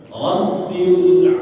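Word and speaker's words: رب: Ya itu yang keempat rabbil rabbilamin Rabbi Ya bnya itu harus ada tasdidnya faqal B kemudian yang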